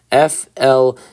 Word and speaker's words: Fleury: F-L-E-U-R-Y. Fleury, that's how I'm going to say it.